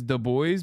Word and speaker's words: Du Bois: Anyway, the correct way to pronounce his name is Du Bois because he wanted to distance himself from his original surname.